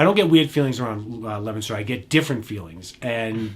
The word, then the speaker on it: Leominster: Leominster, right? Or some people that aren't from the area, Leominster. That's not how you say it.